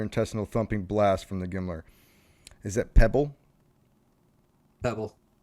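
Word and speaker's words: GMLRS: guided missile La launch rocket pronounced gimler was shot out of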